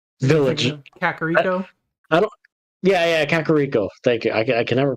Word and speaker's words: Kakariko: Yeah, Kakariko. Thank you. I can never pronounce Kakariko. I was gonna say Kakariko, like paprika, but that's close.